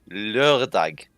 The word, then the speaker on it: lørdag: Saturday is lørdag. Oh my god, are you really gonna get me on a hard O pronunciation? I basically said that right. Fuck out of here. No, it's because the one letter in that word doesn't exist in the American alphabet.